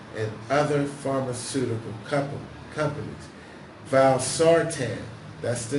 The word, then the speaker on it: valsartan: FDA that high levels of forgive me for mispronouncing his word dying dying for mouth I were found in that valve Sartain a drug produced by Novartis and other pharmaceutical company companies valsartan that's the name of the drug that has